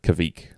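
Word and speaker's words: kveik: What do you call it? I call it kvik. I call it kvike.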